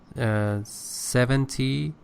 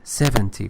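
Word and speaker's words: seventy: You said 17, it is 70, first syllable. Because 17 means 10 plus 7.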